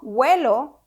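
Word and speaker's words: huelo: I smell it's yo wello but it's spelled h-u-e-l-o remember that an H in Spanish is always silent so this extra letter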